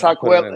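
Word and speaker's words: Hikuleo: How do you pronounce that? Is that how you? I'm gonna put it. Yeah, it's Hakuelo.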